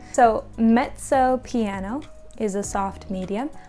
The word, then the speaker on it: mezzo: Think of that like pizza. This is an Italian pronunciation. The ZZ is za. So mezzo.